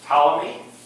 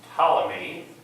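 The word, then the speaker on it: Ptolemy: the solution is the T May a calendar are you familiar with tmy tmy with a silent P had a theory of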